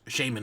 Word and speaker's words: Shaymin: hate the shimon event shaymin event did i call it shimon shaman that that one